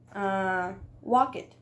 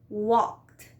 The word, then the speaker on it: walked: we are learning English, what we do is that we want to pronounce the E. For example, play it, mop it. No? We can want to say walk it.